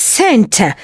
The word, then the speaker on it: Saint: Notice also we don't pronounce saint. Saint Peter's. Saint Peter's. We don't pronounce that "t".